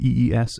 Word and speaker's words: EES: its core Engineering Equation Solver which is abbreviated EES and pronounced e by the way is a simultaneous